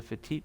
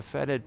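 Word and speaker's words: fetid: didn't show you the fatigue pot faded or however you say it for deep i think it's feted pots it's feted pots i say it wrong all the time by the way i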